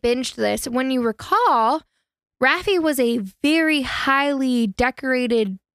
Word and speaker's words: Raffi: It's Rafi. Rafi. Rafi. It's Rafi, honey.